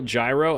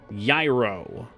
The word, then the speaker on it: gyro: have a real gyro imagine me pronouncing it Gyro in Greece that's how you get your sandwich spit on I'll do that for you thank you let me know how it goes I'm sure it'll be delicious we have to do anything here I don't remember she's on the fourth floor how aspry would you pronounce it I was told the the G was silent so it would be a uh yiro yo I don't know